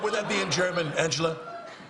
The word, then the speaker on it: Angela: is um um Angela America how do you pronounce it in but would that be in German Angela it's actually it's Angela what my name is Uncle no don't correct